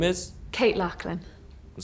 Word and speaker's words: Loughlin: Kate Lachlan. It says Loughlin here, like Loughborough. It's pronounced Lachlan.